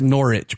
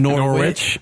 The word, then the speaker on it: Norwich: listen to the latest pod love it it's pronounced Norwich by the way so definitely we were saying normal rich yeah nor it nor it Norwich yeah no